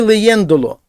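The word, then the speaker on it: leyéndolo: І отут дивіться, коли леєндо, то за наголос падає на передостанній склад. Все добре. Але коли ми добавляємо в кінці ло, то цей склад, де був наголос, і там він і був, стає третім з кінця. Таким чином, щоб зберегти наголошеним оцей склад, саме він повинен бути наголошеним, ми повинні над буквочкою е поставити значок наголос.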